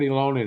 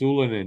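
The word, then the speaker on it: Ylönen: Not Ilonen, it's Ulanen. You all know that. They're saying it wrong.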